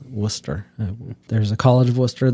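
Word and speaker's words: Wooster: and uh it's spelled like roster but not pronounced like rooster it's Worcester there's a College of Worcester there it's near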